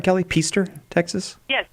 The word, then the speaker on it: Peaster: Peaster, Texas? Yes, Peaster.